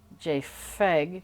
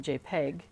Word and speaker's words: JPEG: So before it's pointing out like JPEG, where P comes from photograph, so it should sound like JFEG, because photograph. Yeah, but it's a P, so we pronounce it JPEG, because that's what we see written down.